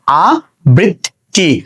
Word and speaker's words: আবৃত্তি: তো শব্দের শুরুতে আ লিখেছি, বয়ের ইকার লিখেছি। এখানে দেখো তয়ে তয়ে যুক্ত আছে, তাহলে ত কয়টা হয়ে যাবে? ত হয়ে যাবে 2টা, আমি লিখেছি 2টা। তো রস্বইকার বাকি আছে, যার কারণে আমরা এখানে একটা রস্বইকার যুক্ত করে দিয়েছি। তাহলে উচ্চারণটা হচ্ছে কি? আবৃত্তি।